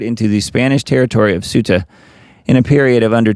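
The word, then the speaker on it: Ceuta: Suta, that's how I'm going to pronounce it. I think that's correct. Around 60,000 migrants poured into the Spanish territory of Suta in a period of under 24 hours from Thursday to Friday.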